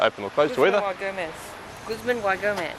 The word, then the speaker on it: Guzman y Gomez: Guzman Y Gomez. Guzman Y Gomez, as Sally has correctly pronounced me.